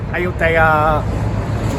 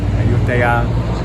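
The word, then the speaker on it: อยุธยา: อ ย ุ ธ ย า Ayutthaya. Okay, so for you people that said I said it wrong, that's how you say it. We just said it. อ ย ุ ธ ย า Ayutthaya.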